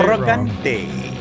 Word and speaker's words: Morante: Always say Morante. Yes. Morante. It's like Aliz like uh it's kind of like the uh Aladente. Alente. Yeah, that too.